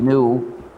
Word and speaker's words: GNU: gnu as a joke the new which is spelled gnu is a recursive acronym